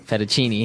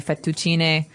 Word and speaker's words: fettuccine: would be penne penne so you you double pronounce the consonant what about fettuccine um in american we say uh ferecini fettuccini fettuccine alfredo is a very common american italian dish but in italian it'd be fettuccine so you might hear it differently and what